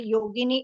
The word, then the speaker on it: Yogini: in the same way yogini is a version of saints beautiful and it rhymes with Linguini if you know what's